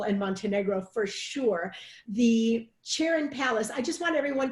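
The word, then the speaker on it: Çırağan: everyone to know that the G in Turkish is silent so one of the challenges I had when I was looking up the property even on Wed aways calm was they say cheerin Palace but there's a G in there so you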